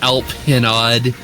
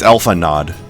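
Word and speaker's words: Alphinaud: Weird choice, Alpinod. No. I watched that LunarCon video. It's Alpha Nod. I can't believe that guy's been playing the game for so long and he doesn't know how to pronounce this name.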